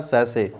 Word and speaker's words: sachet: अब कई लोग उसे सचेत पढ़ देंगे, बताइए। तो जो लोग वहाँ पे सचेत पढ़ देंगे SACHET, एक्चुअली उसका एग्जैक्ट प्रोनाउंसिएशन होता है सैसे।